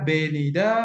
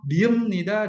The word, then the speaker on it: ㅂ니다: Jika dibaca, menjadi -benida dan -sepnida. Oke. Namun, pengucapannya adalah -mnida dan -seumnida.